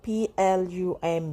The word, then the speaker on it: plumb: Same goes for p l u m b, p l u m b, plum.